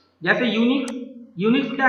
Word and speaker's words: Unix: यूनिक्स क्या है? इसे प्रोनाउंस करते हैं यूनिक्स। क्या बोलते हैं?